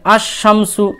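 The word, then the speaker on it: الشَّمْسُ: আছে আর রাজুলু তারপরে আসশামসু দেখেন এখানেও লাম বাদ চলে গেল তারপরে আত্তরু এখানেও দেখেন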